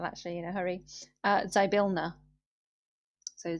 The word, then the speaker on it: Zybilna: wrong as well actually in a hurry uh zybilna so z y p i l n a